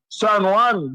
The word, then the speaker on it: San Juan: and said no cheese, not San Juan, San Juan, because the J is silent.